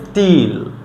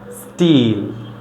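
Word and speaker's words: steel: সো টি লেটারের পূর্বে যদি একটা এস থাকে তখন আমরা এটাকে ট এর মতো উচ্চারণ করব, তখন আর ঠ এর মতো বলবো না।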